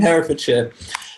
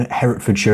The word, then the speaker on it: Herefordshire: How do you spell your county's name, Herefordshire, as you pronounce it? I'm going to show this up on a map now. H-E-R-E. H-E-R-E, yeah. Hereford. Here we go. Herefordshire, sir. Oh, yes. No T.